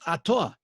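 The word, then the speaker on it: אתה: God, you, it's pronounced Atah.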